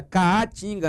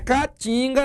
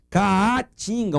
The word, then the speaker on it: Caatinga: Lembrem da pronúncia e da própria grafia, Caatinga, não é Caatinga não, aquele com A só, que o pessoal fala quando as pessoas estão com aquela suvaqueira, faltando um desodorante.